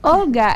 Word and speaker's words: Aulgah: 19 a on social media on Facebook I'm Olga on Instagram I'm Olga underscore not so and my website is definitely WL calm perhaps I can spell your first name Olga is a u l g a h okay